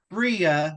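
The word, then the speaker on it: Freeh: and get this name because it's just really s out toy freia but it's spelled f reeh like free H where does Mueller come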